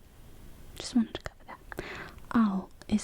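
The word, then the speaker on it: 青: I did okay just wanted to cover that oh is how you say blue ah oh all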